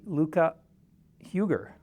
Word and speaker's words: Luca-Huger: I'm pleased actually to be speaking with Tracy Luca Huger. Did I pronounce that correctly?